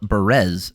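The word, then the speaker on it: Bárez: Victor Altamirano versus Daniel Barez. It's spelled Barez, but as Michael Bisping so eloquently put it, he's from Spain, so just like Ibiza, it's Barez.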